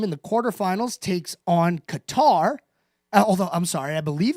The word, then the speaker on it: Qatar: The beach volleyball men's team in the quarterfinals takes on Qatar. Although, I'm sorry, I believe it's pronounced Qatar, as we learned during the World Cup a few years ago.